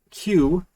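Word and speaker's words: queue: funny word uh but q right a lot of people think that you just pronounce the first letter and all of the other letters are silent right q-u-e-u-e that sort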